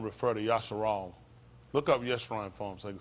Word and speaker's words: Yeshrun: Look up Yeshrun for him so you can see what it means.